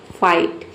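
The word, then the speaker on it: fight: देख सकते हैं यहाँ पे एप का फ और आई जी एच टी हो गया आइट, फाइट।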